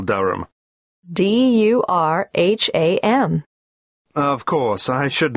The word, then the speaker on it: Durham: How do you spell Durham? D-U-R-H-A-M. Of course, I should know that. But it's just one of those names that sounds quite different from the way you spell it.